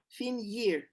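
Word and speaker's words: finyir: i r or f-i-n-y-a-r fin year is f-i-n-y-i-r fin year it's to go like this how do you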